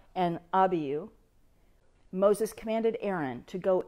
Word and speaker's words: Abihu: When Aaron's sons, we know them as Nadab and Abihu. That's not the way that the Hebrews pronounce it. It's Nadab and Abihu.